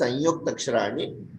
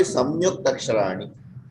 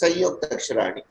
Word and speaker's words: संयुक्ताक्षराणि: Yes, it should be pronounced as Sanyukta Aksharani. It should not be Samyukta Aksharani. Yeah. Sayukta Aksharani. Is it correct? Yes, Sanyukta Aksharani.